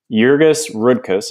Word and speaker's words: Jurgis Rudkus: ponder as you as we read this excerpt jurgis rudkus is how you pronounce that the main character is a Lithuanian